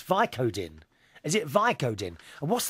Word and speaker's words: Vicodin: well now you remember we were talking about vice odin which is some sort of drug i can't